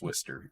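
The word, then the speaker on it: Worcester: yeah um but yeah it's pronounced Wester if you're from Massachusetts but yeah okay um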